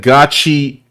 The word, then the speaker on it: Gachi: I've heard gacha cuda, but he said gotchi.